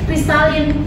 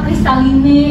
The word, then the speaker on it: Kristalin: Eh pengirapengiraan gitu karena di belakangnya ada e atau kristaline gitu Indonesia bet ya Iya sehingga e si pihak kristalin tu karena enggak kita tuh kristalin dibacanya bukan kristaline akhirnya mereka dibuangnya jadi